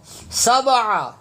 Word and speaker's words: سبع: جاتا ہے۔ خلق، خلق، سبع، سبع، عین زبر ع، حلق سے نکلے گا۔ یہاں پہ بھی لوگ تلفظ غلط پڑھتے ہیں، سبع، سبع، سبع سماوات، سبع سماوات، نہیں، عین زبر ع، عین زبر ع، سبع